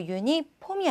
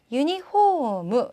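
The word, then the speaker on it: ユニフォーム: 그 다음 유니폼은요. 유니폼이 아니라 유니홈. 자, 호가 길어집니다. 유니홈이라고 읽어주시면 되고요.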